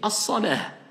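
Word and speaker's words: الصلاة: ou soit je dis as-salah. D'accord? As-salah. Voilà pourquoi le mu'adhin, comme il s'arrête, donc comme on a dit, on s'arrête, on ne prononce pas la dernière voyelle, donc le ta marbuta devient ha.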